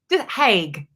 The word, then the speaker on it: Haig: Haig. Yeah, I still like don't the want to mess it up. whiskey. Like the whiskey or the chocolate.